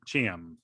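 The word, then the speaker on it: Chiam: the end of this episode um desmond uh cham cham i think is how you say his name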